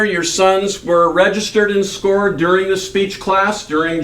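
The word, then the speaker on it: SCOIR: We have a program called SCORE. A lot of people look at it, S-C-O-I-R, and think that it's pronounced Squire. It is SCORE.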